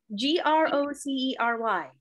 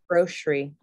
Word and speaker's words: grocery: I say it as like an S-H. Yeah. Grocery. Grocery.